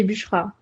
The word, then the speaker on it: Busra: J'ai bien prononcé ton prénom, c'est bon? Exactement, oui, c'est Bushra.